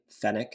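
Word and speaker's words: fennec: oh my God they're so I think it's pronounced fck what did I say finic F fenic isn't it f n NE c fenic yeah fck you said fck I do not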